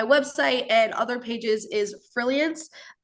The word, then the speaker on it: Frilliance: And then my website and other pages is Frilliance. It's spelt like brilliance, but with an F.